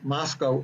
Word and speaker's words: Moscow: in Moscow uh that's Moscow also is the first thing you learn when you go get out there the town is pronounced to rhyme with Costco they don't want it